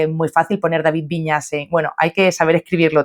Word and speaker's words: Vinyes: Mi apellido en catalán es Viñas, igual que en castellano con ñ a s. Lo que pasa es que Viñas en catalán se escribe con NYS, ¿no?